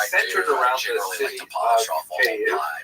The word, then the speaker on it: Kyiv: That's the Ukrainian pronunciation, by the way. That's favored today because, of course, Ukrainian is the dominant language in the country. But it used to be called in English Kiev, which is closer to the Russian pronunciation because Russia dominated much of this area in the modern era.